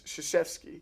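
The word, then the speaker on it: Krzyzewski: say his name because it's it starts with a K and it's shashki yeah it looks nothing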